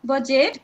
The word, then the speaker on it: budget: Silent D यदि जी से पूर्व डी दे रखा हो तो डी प्रायः साइलेंट हो जाता है, जैसे as, hedge, And laser, ग्रज, बजट, and ब्रीज.